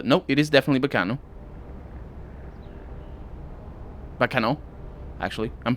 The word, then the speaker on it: Baccano: in all that's not bakano it's pronounced b it's not like baka no as in idiot but like backer uh it is uh